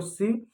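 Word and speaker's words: sieve: ठीक है, तो चलनी जो होता है जिसको आटा वाटा चालने में काम आता है, इसको सिव या स्टेनर बोलते हैं।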